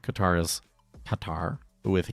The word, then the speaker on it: Qatar: It represents an Arabic letter. It's a deep back of the throat K sound. Bubular stop which English doesn't have.